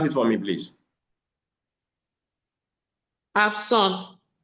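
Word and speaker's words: absent: Absson again. Absolut becomes P. There's a process of assimilation in this context. That's high level of phonetics. So note that it's abs.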